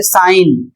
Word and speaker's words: sign: जैसे एक शब्द है साइन एस आई जी एन साइन means हस्ताक्षर होता है।